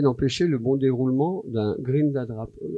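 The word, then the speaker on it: Grindadráp: Alors, cette ONG est là avec ses militants pour essayer d'empêcher le bon déroulement d'un Grindadrap. Comment on prononce ça Comme ça, Grindadrap.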